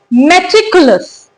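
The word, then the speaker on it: meticulous: देखिए मैं टिक यू लस यहां पे यह जो यू है इसको आप यू की तरह ही प्रोनाउंस करेंगे। तो वर्ड की एग्जैक्ट प्रोनाउंसिएशन क्या है? मैटिकुलस।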